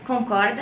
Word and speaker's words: concorda: Also, the word concorda has the same pronunciation as with rope.